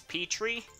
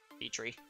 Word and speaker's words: Petre: It's Petre. Like P-P-E-A, and then tree, like T-R-E-E, P-tree.